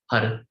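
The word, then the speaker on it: Har: so we just chanted hud it's spelled h-a-r but all the r's are sound like d's because we flick it onto the root for the mouth like you do rolling your tongue but it's just one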